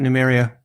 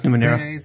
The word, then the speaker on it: Numenera: Yeah, but how do you pronounce it? Like Numenera. Numenera. All right, okay. Or is it Numeria? No, it's Numenera.